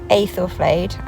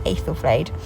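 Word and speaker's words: Æthelflæd: So this is what I said, Lady Aethelflaed. I think that's how you pronounce it, Lady Aethelflaed.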